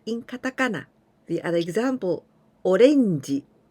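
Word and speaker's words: オレンジ: katakana the other example orenji when we say orange it means orange orange and our way of pronunciation orenji and we write in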